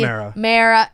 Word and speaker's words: Mara: of a thing against mara it's just and it rhymes with sarah which we found out